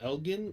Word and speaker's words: Elgin: okay and then next up we have uh elf i believe this is pronounced elgin elgin baylor oh jesus christ elgin elgin sure